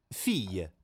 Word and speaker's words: fille: Fille. Fille, fille. Ultimo suono è y, quindi lei è muta.